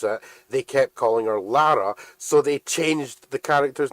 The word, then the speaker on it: Lara: literally spelled or no it's literally spelled L A R A which is pronounced Lara there's a [ __